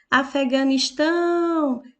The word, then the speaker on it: Afeganistão: a palavra Afeganistão e a palavra Afeganistão tem como sílaba mais forte e a última Afeganistão é aquela com que eu pronuncio com mais intensidade Então ela é uma